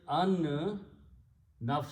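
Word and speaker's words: النفس: you pronounce these together you do not pronounce Lam because noon is a shamsi letter so it becomes enough so the word is on enough so so I'm going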